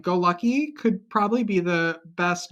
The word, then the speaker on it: Golucki: The real pronunciation is Golucki. But that's that's a tough pronunciation if you don't speak like a Eastern European language.